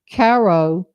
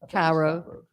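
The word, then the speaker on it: Cairo: from Jenny is from Caro Georgia c a i r o Caro Georgia how do you say it Caro Caro Georgia um okay well wherever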